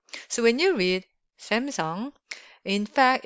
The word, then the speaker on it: Samsung: So when you read Samsung, in fact, it's Samsung. It's not Samsung. It's Samsung. Samsung.